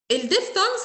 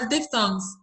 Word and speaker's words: diphthong: بص يا سيدي، الديفثونجز عامه كلمه ديف هي هنا البي اتش بنطقها ف ساوند، تمام؟ فبقول ديف وبعد كده thong، فاكرين هنا الساوند اللي